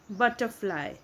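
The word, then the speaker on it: butterfly: तो ये स्टोरी है द बटरफ्लाई। तो यहाँ पे देखो बटरफ्लाई, आर वर्ड साइलेंट है क्योंकि आर के बाद है कॉन्सोनेंट।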